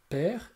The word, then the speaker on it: père: Et le mot père s'écrit e accent grave et non pas e accent aigu hein. On dit bien paire et non pas paire.